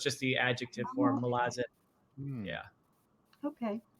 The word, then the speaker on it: Malazan: It's fine, however you say it, but I believe the way Erickson would say it is Malazan.